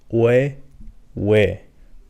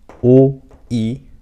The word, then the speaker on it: 의: And here we have an interesting one, which is technically a combination of O and I, O, I. But for some reason, this is not pronounced as oi or anything like that. This is also pronounced as we. Consider this one as an exception and just memorize.